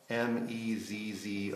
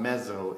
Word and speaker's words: mezzo: It's spelled M-E-Z-Z-O or Z-Z-O for you Canadian people. I am one. But it's not mezzo, it's mezzo.